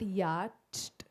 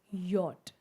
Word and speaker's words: yacht: It's not yacht, it's yacht. So why I'm saying this? You all know you all know your English pronunciation. But the moment you write this, your child will question you that why is it not yatched?